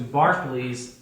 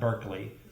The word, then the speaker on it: Berkeley: His doctrine of association of ideas will give rise to Berkeley's idealism, and that's how you say it in England. Not Berkeley, but Berkeley.